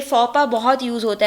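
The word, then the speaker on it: faux pas: इसका प्रोनाउंसिएशन होता है फॉपा, एक्स की प्रोनाउंसिएशन नहीं होती है, फॉपा है ये, ठीक है।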